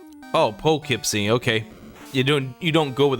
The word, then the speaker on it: Poughkeepsie: I pronounce it as, and Silly can correct me if I'm wrong, but I pronounce it as pug, as in the dog breed there, Kipsy. Oh, Poughkeepsie, okay.